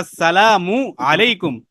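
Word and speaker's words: السلام عليكم: ঠিক আছে, তো সালামের ক্ষেত্রে আসসালামু আলাইকুম, মিমের পেশটা এবং আইনটা সহি শুদ্ধভাবে উচ্চারণ করতে হবে।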